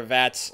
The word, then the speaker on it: VATS: It rhymes with hats. Can you guess what it is? Yeah, it's VATS mode.